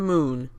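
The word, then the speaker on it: Mün: moon it's the kerbals moon which is spelt mu n but the dots above the um I think I meant to make me make it be pronounces a new sound so it's pronounced moon I don't know confusing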